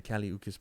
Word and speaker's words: Kali Uchis: Get You, and the Kali Uchis part is that's how you pronounce her name.